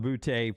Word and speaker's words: Boutte: Is it I mean, he played at LSU, so I thought Boutte on the end. Boutte. Kayshon Boutte. I don't think it's Booty like the Booty Brothers, Josh and General and all them. Kayshon Boutte from New England, the Patriots.